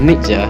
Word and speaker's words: Nietzsche: The correct pronunciation of Nietzsche is Nietzsche.